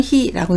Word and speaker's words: 費: 음독은 히입니다. 한국어는 비이지만 일본어는 히라고 읽는 점 주의하시기 바랍니다.